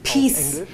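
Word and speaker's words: PiS: It is pronounced peace in Polish, like peace in English, which is counterintuitive, I have to admit that.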